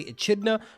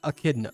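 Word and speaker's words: Echidna: find a pronunciation because if I was going to pronounce that I would say a chida but it's actually a kidna but anyways which is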